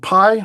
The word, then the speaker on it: PAI: So, the project is called Pi, which unfortunately rhymes with Kai.